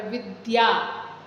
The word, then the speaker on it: विद्या: य पूरा तो इसलिए जो उच्चारण कर रहे हैं आधा द और य पूरा उच्चारण कर रहे विद्या या देखिए पूरा उच्चारण